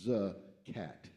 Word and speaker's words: zakat: And in Islam, there's a practice called zakat, pronounced or spelled z a k a t, but pronounced zcat.